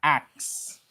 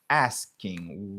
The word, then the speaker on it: asking: Yo fait comme ça, axe. Yo kon prononcer comme ça. ou bien m'te ka faire comme ça. AKS, axe. Vous comprenez? Axe. Comme ça, et moi-même, et longtemps, dès qu'on prononce comme ça. Axe. Why are you asking me this question? Okay, why are you asking me this question? But when in fact it's asking.